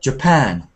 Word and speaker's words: Japan: for example we've got words like Japan and Brazil where the stress comes uh at the end not the beginning so we've got Japan Brazil but we've also